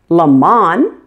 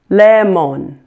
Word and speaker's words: lemon: syllable stand out as being loudest and longest lemon the first correct so in this case laughs is the stress syllable and mun is the weak syllable lemon it's not pronounced LeMond or lemon got it it needs to be lemon let's